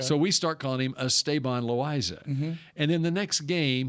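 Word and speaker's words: Esteban Loaiza: was doing Ranger games we got word that estaban loisa wanted his name pronounced estaban loisa okay so we start calling him estabon loisa and then the next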